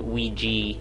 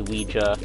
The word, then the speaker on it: Ouija: you call this the Ouija board it's not a Ouija uh it might be an American accent thing oh but I think I've always pronounced it Ouiji even though although reading